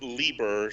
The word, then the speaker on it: Lieber: we're gonna call it quits for now it's pronounced lieber stan lee's original last name oh okay i